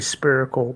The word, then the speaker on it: spherical: And here's proof that everything we look in the night sky and see is not a spherical ball. Spherical. Man, Spherical. double down on that shit. He actually pronounced the P in Again.